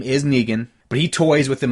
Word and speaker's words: Negan: kind of teases negan which by the way I never known if his name was France negan her Nagin is spelled Megan in e GaN but I've also always said in my own head his name was negan so that's an interesting thing